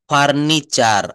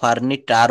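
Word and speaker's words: furniture: না এই যে বলছে শব্দের শেষে টি থাকলে আবার টি এর পরে যদি ইউ থাকে তো এই ই এর উচ্চারণ বা টি এর উচ্চারণ চ এর মত হয়ে যায় যেমন ফার্নিচার আসবাব পত্র আমরা কিন্তু কেউ ফার্নিচটার বলি না এটাকে কি বলি আমরা ফার্নিচার তারপরে স্ট্রাকচার আমি প্রায়ই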